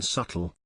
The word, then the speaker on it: subtle: c doing in there just like the b in subtle the language is crazy